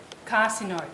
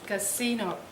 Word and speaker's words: casino: asleep is this wrong I said carcinoid a shock but the right way to say is casino yeah besides that is